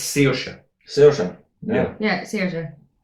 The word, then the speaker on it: Saoirse: They were closer to saying Skavorsky than they were the actual name. It's- something mental. It's Saoirse.